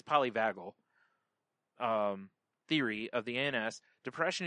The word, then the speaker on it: polyvagal: I believe it's polyvagal theory of the ANS.